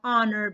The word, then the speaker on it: honor: and uh honest okay okay and we have honor be shut off our shot off the mana